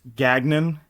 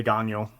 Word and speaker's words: Gagnon: Yeah, if you Americanize it, it's Gagnon. Yes. If you want to say it, if I was French Canadian, I'd say Gagnon.